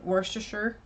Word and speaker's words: Worcestershire: Like Worcestershire?